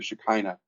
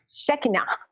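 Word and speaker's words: Shekhinah: in the same Concepts that the shine the shikina uh and how do you pronounce that word well I was pronouncing it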